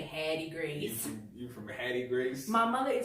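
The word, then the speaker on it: Havre de Grace: I'm from a little town called Haverty Grace, Haverty Gra, so to speak, but we say Hattie Grace.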